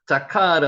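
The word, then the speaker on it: זָכַר: 자카르 한번 해보세요. 자카르. 자인하고 요게 뭐죠? 카프죠. 요게 레시입니다. 자카르. 요게 아 발음이고 요것도 아 발음이죠.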